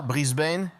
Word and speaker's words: Brisbane: On le prononce comme ça. Brisbane. Oui.